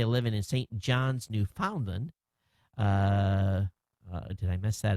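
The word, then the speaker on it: Newfoundland: story so you can get the pronunciation of new falland as you always pronounce it wrong when you read one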